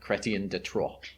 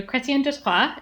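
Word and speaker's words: Chrétien de Troyes: simultaneously like do the you've got to like roll the r a little bit okay yeah there you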